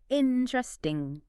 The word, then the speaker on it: interesting: So we drop that E, the one in the 3rd syllable. Exactly. That internal E sound goes, think of it like swallowing that syllable entirely, or just sliding right over the T.